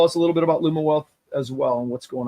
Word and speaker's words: Lumiwealth: ago which was fun um your product's awesome pronouncing it correctly Luma wealth right yep yep um and this is the